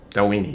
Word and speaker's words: Dalwhinnie: It is Dalwhinnie? Dalwhinnie, yes, that's right.